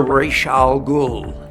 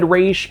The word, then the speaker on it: Ra's al Ghul: He started off by saying Razz al Ghul, but then he switched over to Raysh al Ghul. Now, if you're asking me, that sounds less like someone who has always said Raysh and more like someone whose pronunciation has evolved over time after being corrected by an expert.